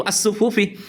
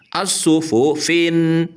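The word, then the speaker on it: الصفوف: Dan fa-nya dibaca kasrah tanpa tanwin karena ada alnya itu as-sufufi.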